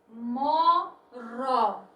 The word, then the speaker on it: moro: Moró. O R ele foi pronunciado com menos intensidade.